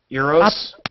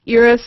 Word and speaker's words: Eros: A friend of mine who studies asteroids says it's actually Eros. And it's like, well, and I said, yeah, but nobody's going to call it that. Everybody calls it Eros or Eros.